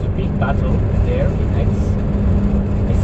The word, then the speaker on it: Aix: big battle there in Aix. I say Aix, it's A-I-X, but it's pronounced like the letter X. Aix in Provence.